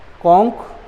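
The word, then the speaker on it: conch: ठीक है, मोनार्क तो मोनार्क्स, कोन्स तो कोन्स, है ना, हाँ, मोनार्क, कॉन्क तो कॉन्क्स, क उच्चारण होता है इनका, इसलिए इनमें क्या होता है, S जुड़ता है।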